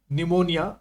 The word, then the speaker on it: pneumonia: And action to neutralise निमोनिया successful. निमोनिया में P silent रहता है।